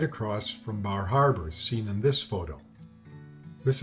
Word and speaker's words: Bar Harbor: We stayed in the Cadillac Motor Inn right in Bar Harbor, or as the locals say, Bar Harbor.